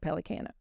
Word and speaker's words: Pellicano: And he said, well, my dad would have pronounced it Pellicano.